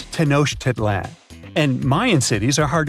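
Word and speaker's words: Tenochtitlan: It's Tenosh Teditlan. And Mayan cities are hard to pronounce too.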